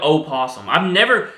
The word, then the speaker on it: opossum: And also, I don't know why it's spelled with an O. Why is it spelled opossum? No other word has an O that you don't say.